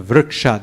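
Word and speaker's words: vṛkṣa: So, like vri, ik, ksha. So, I mean, how do you identify it's two syllables and not? Because two vowels, ri and a, is two syllables. Vr is ri or r is the first vowel, and a is the second one.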